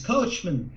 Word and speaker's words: Kochmann: ça se prononce Kochman. C'est de l'allemand et ça a été francisé. Et maintenant, ça a été américanisé, donc les gens disent Kochman. Mais moi, j'étais habitué à dire Kochman.